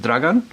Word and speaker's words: Dragan: it's Croatian, and you pronounce it Dragan. And really, in Croatia, if you look at the meaning, it sort of means sort of dear one, like Dragan. And so Dragan, when I came to Australia, I was 6 when I came here, and they looked at the spelling, and it's spelt sort of like dragon, and everyone sort of just said it was dragon.